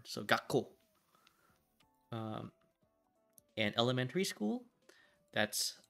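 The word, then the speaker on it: 学校: with feeling we um just pronounce the k very hard so gako um and elementary school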